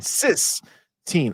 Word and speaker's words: Sistine: Not 6, but Sistine. Not 16. Sistine.